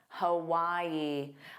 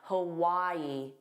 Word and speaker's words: Hawaii: Again, there are three sounds. The first sound is unstressed. So, it's a hu and then Y is the stress sound and then a long e, but it's the unstressed sound. So, you'll hear why more. Hawaii. Hawaii. But make sure you get those three sounds.